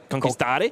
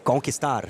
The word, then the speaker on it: conquistar: Comandare conquistare? Conquistar, yes. Conquistar. Very good.